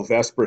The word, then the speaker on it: VSEPR: on what we call Vesper Theory and although it's pronounced Vesper it's actually not spelled Vesper it's VSEPR and that